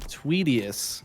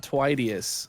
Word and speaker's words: Tweedius: has informed us that the name is pronounced tweedius not twidiest okay so tweedius we'll